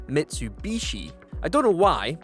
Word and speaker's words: Mitsubishi: a lot of us in the UK refer to this brand of car as Mitsubushi rather than Mitsubishi I don't know why